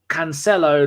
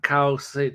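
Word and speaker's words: Cancelo: twitch by the way it's cancello not Carlson don't you dare correct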